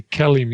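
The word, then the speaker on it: KELIM: questions absolutely the kellim the kellim is how we pronounce that Kellum right kellim yeah kellim is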